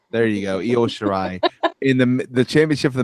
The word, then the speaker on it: Io Shirai: Next up, you had Toni Storm against I don't know how to pronounce her name. Io Shirai. There you go, Io Shirai in the championship for the Mae Young Classic.